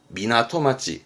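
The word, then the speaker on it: 港町: 한자는요 부둣가 항구의 항점이다 발음은 미나토마찌 항구를 미나토 하거든요 그래서 미나토 마치니까 항구도시 이런 느낌으로 쓰겠죠 미나토마치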